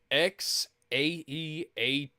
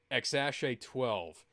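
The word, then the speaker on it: X Æ A-12: his kid's name is X AA12 what Mk I have many questions that's just the the uh phonetic pronunciation the way questions the way it's actually pronounced is xash 12 which is stupid I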